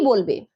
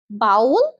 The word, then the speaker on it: bowl: কি বলবে? ক্যাশে অথবা ক্যাচে? ভুল। সঠিক উচ্চারণ হবে ক্যাশ।